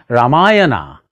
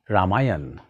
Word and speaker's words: Ramayana: rama starts saying ram instead of saying ramayana start saying ramayana instead of mahabharata say mahabharata